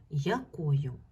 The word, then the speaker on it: якою: й і є й Подивіться на слово якою Скажіть будь ласка ви бачите букву я і букву ю як вони вимовляються в цьому слові твердо тут нема м'якшення тому значить буква я і буква ю у слові якою будуть позначати по два звуки якою я й а к о ю й така в